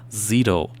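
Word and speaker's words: Szeto: one, I spoke with Giants all-star forward Justin Zitto about his team success. And actually, last week on this program, I mispronounced his name. It's spelled S Z E T O but it's pronounced ZTO.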